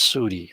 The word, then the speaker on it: Saudi: over there in uh Saudi Arabia by the way it's not Saudi it's Sai that that's the way you pronounce it Saudi Arabia and other